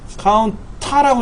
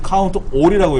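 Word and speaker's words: COUNTA: 카운트 랭크라는 함수가 있어요 카운터라고 읽지 않고요 카운트라 하든지 카운트이라고 읽어요 카운트 카운트는 뭐냐면요 숫자만는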